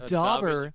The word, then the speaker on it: Daubers: gonna get that joke but it's dobber but it's spelled with an a it's d-a-u-b-e-r-s bingo oh oh my